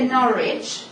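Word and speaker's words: Norwich: el ensayo de deoni normalmente eliminamos la pronunciación de la W Entonces sería nor ahí y son dos casos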